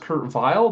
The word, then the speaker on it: Weill: it should be pronounced Kurt Weill, but when he became an American citizen, he decided he wanted his name to reflect his new identity. So he asked to be pronounced with a W.